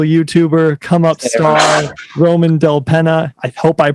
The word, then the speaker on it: Dellapena: at that yeah everybody it's always it's penna yep yes like like nate penna right same thing yeah